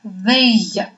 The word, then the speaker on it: veille: Ну, во-первых, I, 2, L во французском языке дает нам звук I. Поэтому мы прочитаем слово, первое слово мы прочитаем как veille. Да?